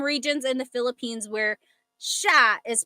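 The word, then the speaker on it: siya: But the s i y combination that makes a sh sound. So in sha.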